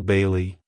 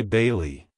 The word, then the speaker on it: Bailee: the second syllable Le make sure to stress the I sound in the first syllable like hello Bailey goodbye Bailey if you found the